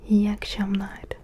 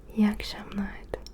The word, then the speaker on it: iyi akşamlar: İyi akşamlar. Essaye de répéter. Bonsoir c'est iyi akşamlar. İyi akşamlar. Je prononce un peu comme si je dis iyi akşamlar, mais en fait c'est iyi akşamlar.